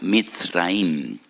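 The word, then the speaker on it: מצרים: porque que la palabra Egipto en hebreo se pronuncia mit raim y en hebreo hay dos MS dos letras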